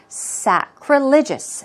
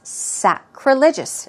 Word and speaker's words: sacrilegious: for most of us sacrilegious sacrilegious stress goes right there and some synonyms are